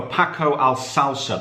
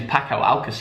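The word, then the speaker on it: Paco Alcácer: Right, now look out for Paco Alsalsa, the Spanish centre-forward. 5 goals and 1 assist there. He's a player, isn't he? Yeah, and the way you say his name is Paco Alcacer, actually.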